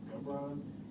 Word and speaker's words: Gibran: It's Jabron. I don't know. Actually, my mom actually told me the other day that it's actually because I'm named after like Khalil Gibran the poet, but it's actually pronounced Gibran. So my whole life is Jabron.